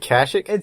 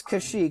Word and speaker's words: Kashyyyk: is it is it kashic i always said casually it's kashyyyk it's k-a-s-h-y-y-y-k i always remember that one because there's three y's but so she goes